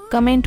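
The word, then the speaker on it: comment: लोग गलत बोलते हैं कमेंट बोलते हैं जब भी कमेंट नहीं होता है इसकी करेक्ट प्रनंसीएशन होगी कोमेंट कोमेंट note कमैंट्स कमेंट इट है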